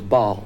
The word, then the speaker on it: Baal: we uncovered uh someone who said he was Bal that's spelled b a l ball was one of the earliest uh Devils the